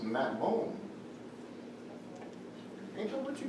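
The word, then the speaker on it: מַטְמוֹן: It's pronounced Matmon.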